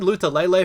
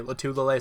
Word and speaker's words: Lotulelei: I always said Lutulele for a while, but I've heard a bunch of different people say Lotulelei, so that's probably how it's pronounced.